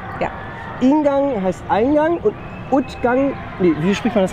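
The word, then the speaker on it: Uitgang: Ingang heißt Eingang und Utgang, nee, wie spricht man das aus? Utgang. Oh Gott, das ist aber schwierig. Utgang.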